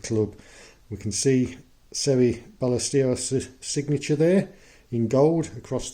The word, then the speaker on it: Ballesteros: Today I'm featuring one of the greatest and most charismatic players ever to grace the sport, Seve Ballesteros, or the Spanish pronunciation, Ballesteros.